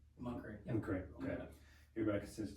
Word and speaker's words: McCrae: I, McCrae, correct spelling, correct pronunciation? McCrae.